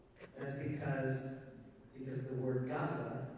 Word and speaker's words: Gaza: That's because the word Gaza is not written with a gimel. It's not written with a letter that sounds like a G to us. It's written with a guttural that in the Germanic pronunciation they say it has no sound. Well, that's not true. It has a sound.